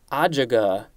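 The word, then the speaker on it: ajuga: i next we have adjaga i i'm guessing that's the pronunciation based on the little pronunciation guide a-j-u-g-a i have never seen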